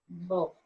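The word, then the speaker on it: בוא: So it takes O sound. Ba. O. This is silent. The A is silent. It just goes. It's married to the cholam.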